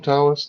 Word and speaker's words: Taoist: The D and the T is the yeah, same. You could do that's it. DAO or TAO, same thing.